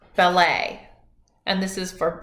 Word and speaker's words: ballet: hi in French salut notice that in French when something ends with a T we don't pronounce it that's why in the word ballet it looks like ballot but it's actually pronounced ballet and this is for